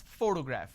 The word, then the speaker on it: photograph: I pronounce this as photograph which means I'm stressing on the first syllable but when I look